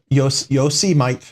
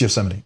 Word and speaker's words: Yosemite: I look at it Yosemite or yo Yosemite yo see Mike you'll see Mike but it's Yosemite right it's like uh